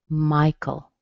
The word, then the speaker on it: Michael: Michael, that's a good one. Okay, Michael. A lot of men named Michael. The AE in the end, it doesn't sound like anything. It sounds like a schwa. Michael.